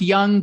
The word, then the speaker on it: Jung: uh i think it's i think it's pronounced young but it's spelled jung so j-u-n-g it's it's